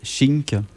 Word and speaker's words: Shiiink: Alors, on peut prononcer chink, par exemple, c'est un peu comme une onomatopée qui est utilisée pour plein de trucs en impro, en fait. On sort un sabre, par exemple, ça fait chink.